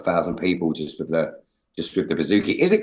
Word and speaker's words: bouzouki: It's the bouzouki.